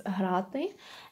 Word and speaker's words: грати: It's грати.